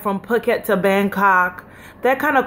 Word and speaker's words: Phuket: travel started in Los Angeles to Phuket or pocket but it's actually pronounced Phuket so I came to Phuket it cost me